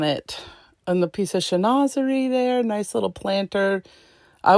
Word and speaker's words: chinoiserie: This cute little chinoiserie shoe. You know, funny, I used to think that the word chinoiserie was pronounced chinois. Am I right? Am I wrong? Chinoiserie, I think, is the proper pronunciation.